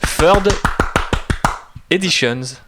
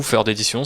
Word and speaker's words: Third Éditions: écrit un livre chez Third Editions ou Third Editions si on veut le prononcer à la française puisque c'est une maison française qui est basée à